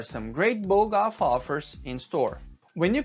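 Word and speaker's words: BOGOF: um acrônimo e que ele deve ser pronunciado com uma palavra e não pronunciado letra por letra. É o que nós vemos no segundo parágrafo. Então, bog-off deve ser pronunciado bog-off e não B-O-G-O-F.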